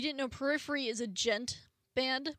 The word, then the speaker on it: Djent: So if you didn't know, Periphery is a gent band. It's spelled Djent, but you don't say the D, or progressive metal, whatever you want to call it.